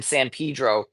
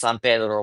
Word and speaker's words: San Pedro: It was in San Pedro. Um, and yes, that is the local pronunciation. I'm aware it's San Pedro, but we're from LA. It's San Pedro.